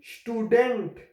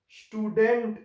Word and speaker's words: Student: So how we have to pronounce the S like sh. So it will be student, student in German language.